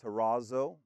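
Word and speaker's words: ταράσσω: It's pronounced terazo.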